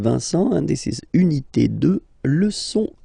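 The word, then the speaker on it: deux: 2, final X not pronounced, okay? 2.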